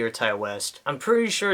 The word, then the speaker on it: Ti West: like T and I, not just T, it's Ty. I think it's Ty West, so I'm going to go ahead and call him Ty West, but I am sorry if I did not pronounce that right.